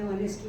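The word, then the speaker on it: honest: जैसे honour, H को करा ऑनर में, ऑनेस्ट में, आर में।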